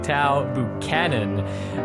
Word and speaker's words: Taao Buchanan: just been informed that uh the name is pronounced tau buchanan by amy ruffle who's always here to correct me when i fail thanks amy thank you tao buchanan uh for the first the last time ever